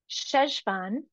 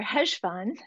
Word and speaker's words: Cheshvan: entering into the biblical month of sesan or hesan however you want to pronounce it and I'm gonna throw